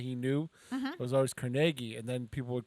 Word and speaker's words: Carnegie: It is also the birthday of the late Andrew Carnegie, the steel tycoon. And now I've heard this pronounced both ways. Carnegie and Carnegie.